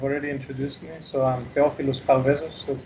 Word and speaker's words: Theofilos Chaldezos: Well, you've already introduced me, so I'm Theofilos Chaldezos, that's how it's pronounced.